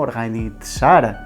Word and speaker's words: organitzar: O molta gent els pronuncia tal com s'escriu, amb una teseta i a més ensordida, no? Organitzar, globalitzar, no? I aleshores, com es pronuncia això? Només heu d'anar al Diccionari Normatiu Valencià per veure que es pronuncia com una S sonora, d'acord? Com una Z, d'acord? Organitzar, globalitzar, canalitzar, etc. Una altra pronúncia admissible per altres gramàtiques o per altres manuals d'estil o normatius és la pronúncia DZ.